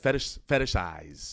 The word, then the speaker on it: fetishize: Fetishize. Boom. Fetishize. Yeah. I'm gonna do it with fetishize. Because I remember. It's like a fisheye lens with extra words. Fetish eyes.